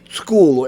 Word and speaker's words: Skool: But her free information, and particularly her community that she has created on a platform called School, and that's spelled SKOOL, is just amazing.